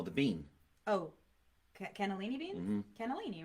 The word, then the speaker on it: cannellini: really good olive oil what is the correct pronunciation of that Bean quinoa no the bean oh cannellini beans cannellini right my mother always said gonnellini oh the accent maybe maybe that's the uh